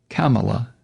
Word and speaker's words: Kamala: said when a guest told him it was pronounced kamala yeah tucker what if somebody mispronounced your first